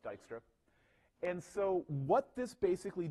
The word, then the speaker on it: Dijkstra: algorithm called Dijkstra's algorithm I know it has sort of a weird spelling it's pronounced Dijkstra and so what this